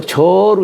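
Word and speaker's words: 諸: 이런 얘기입니다.인지 가져하야.이이 이이 모두제자가 우리가 모두라 할지는 이게 재라고 읽지만은이 제하라고 하지 않고 저로 읽어요. 저 그럴 때는이 저자가이 갈지자와 어주사자를이 줄임 말 지어를 줄여서 저어하는 거예요. 그러니까 나에게서 이것을 더하는 거예요. 응. 이때는이 저라고 읽어요.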